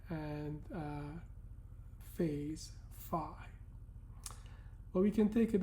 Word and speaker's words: phi: The magnitude is called r uh and the phase angle is called phi or in in modern Greek this is pronounced f but we'll refer to the English pronunciation fi.